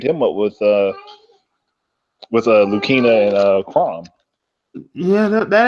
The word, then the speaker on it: Lucina: characters in there um I've been saying lucina's name wrong the whole time it's lukina not Lucina oh is lukina yeah everybody been saying it wrong nigg everybody's been saying it wrong her name is lukina like I feel like an